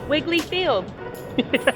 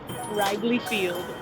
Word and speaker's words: Wrigley Field: To pronounce it right, be like, this is Wiggly Field. No. You gotta be like, welcome to Wrigley Field.